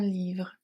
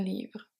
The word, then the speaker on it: livre: ma mère lit un livre pendant pendant assignment que assignment Ma mère Maère est silent. Lis un livre. Lis un livre. Le T is silent and E at livre silent as well.